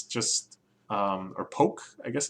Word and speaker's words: poke: So this is Chiari Sushi or something, which is kind of like poke, where it's just, or poke, I guess it's actually pronounced, where it's just a bunch of rice